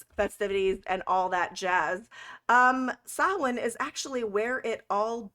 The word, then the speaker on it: Samhain: Yeah, there's actually quite a few that pronounce it Samhain, so some people just go with Samhain, but it's actually pronounced Samhain.